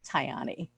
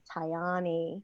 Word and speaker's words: Tayani: And how do we pronounce her name, Heidi? Tayani. Tayani.